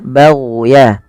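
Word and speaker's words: بَغْيًا: Pada lafal bagan hati-hati jangan sampai memantulkan huruf gin karena huruf gin bukan huruf mantul tapi dia ag ya bagya bagan bagan di mana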